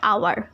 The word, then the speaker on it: hour: Okay, this is called mute H.